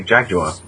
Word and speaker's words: Jaguar: He goes, and Clarkson goes, "Well, we say Jaguar, as in how it's spelt."